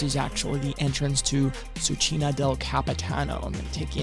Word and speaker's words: Cucina del Capitano: It took me a couple times to pronounce the name correctly. Cucina del Capitano.